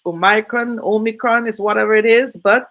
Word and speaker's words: omicron: name omicron um really some people may want to pronounce oh micron but the i seems to be silenced as omicron and the world health